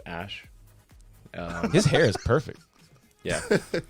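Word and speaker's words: Æ: letter X and then the AE is like pronounced ash his hair is perfect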